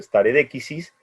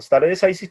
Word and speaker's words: stare decisis: Nosotros no seguimos tan estrictamente, que es lo que se conoce como stare decisis, en realidad es una expresión latina que debería pronunciarse stare decisis, pero en inglés la pronuncian stare decisis, que implica que lo